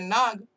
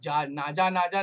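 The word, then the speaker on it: Naja: नाजा लिखा हुआ है, ये नाजा नहीं है, भले वो स्पेलिंग आपको नाजा लग रहा है लेकिन बोलने के टाइम पे उसको नाग ही पढ़ेंगे, नागा नागा. ओके, इसे नाजा नाजा नहीं है, नाजा नाजा नहीं, वो आजा आजा हो जाएगा.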